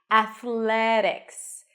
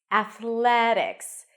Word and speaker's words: athletics: called a flat te Athletics Athletics the primary stress is the a sound and there are a